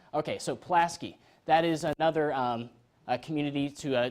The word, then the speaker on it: Pulaski: So let's make sure actually we pronounce this right. Pulaski. Okay, so Pulaski.